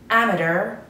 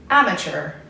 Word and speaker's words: amateur: It has two pronunciations. به pronunciation دومی نگاه کنین، دقت کنین. ببینید چه جوری میگم، دو تا داره. یکیش British English هستش که میگه amateur و American Englishش میگه amateur. So, amateur British English, amateur American English. پس بچه ها پرونانسیشن بریتیشش و انگلیسیش رو بهتون یاد دادم، توی امریکنش رو بهتون یاد دادم. توی امریکن این قسمت صده چ میده، توی بریتیش انگلیش همین ت صدا میده.